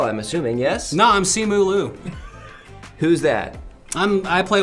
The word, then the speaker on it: Simu: So Simu, is that how it's pronounced?